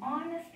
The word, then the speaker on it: honest: Now see, an R, an honest man. Here H is silent and start with sound of O.